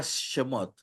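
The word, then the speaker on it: שְׁמוֹת: término cheva perdón esa palabra shemot se pronuncia con e porque el chebat aquí cumple la regla que dice que cuando va al inicio de una de una consonante o de una palabra se pronuncia ahora en el otro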